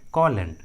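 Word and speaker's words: column: है तो am silent होता है, एम का उच्चारण नहीं करते। For example कॉलन, कॉलन।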